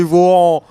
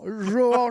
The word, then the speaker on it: Johan: Il veut bien prononcer le prénom, il connaît le prénom Johan, il se dit ah non, ça doit pas être ça, c'est Vohan, c'est Trump, c'est Vohan. Johan Chapoutot.